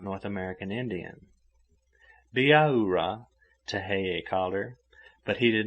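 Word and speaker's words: Bihaura: not north american indian biara but he did not pronounce it according to english notions of spelling spelled b i h a u r a it sounded like biaura with every syllable sharply emphasized she took charmian by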